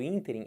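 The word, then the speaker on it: ínterim: proparoxítonas olham para cá item entrem é proparoxítona quem é sílaba forte do ínter ruim aqui é a sílaba tônica o que que seria isso interim é um espaço de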